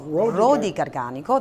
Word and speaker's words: Rodi Garganico: Rodi Garganico, am I saying it right? Rodi Garganico. Rodi Garganico, that's right.